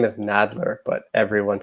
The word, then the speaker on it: Nadler: have missed today I'm excited to welcome Lonnie Naylor writer of black stars above let me stop